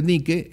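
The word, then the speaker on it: Nike: por cierto ese nombre ni que es el que le pone una famosa marca comercial de tenis no más que ya lo pronuncian y ya lo pronuncian hay muy gringos pero es ni que y por eso el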